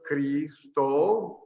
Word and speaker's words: Cristo: Just like Cristo, like it's a long E, long O.